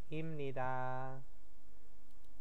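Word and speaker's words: 입니다: tanda tanyanya ya, menjadi imnida. Nah, ini bacanya im ya. Kenapa? Biep bertemu dengan nian, biepnya berubah menjadi miem.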